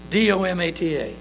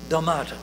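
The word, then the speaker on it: δόματα: It is spelled D-O-M-A. Let's see, I gotta read it in the Greek. D-O-M-A-T-A. Domata.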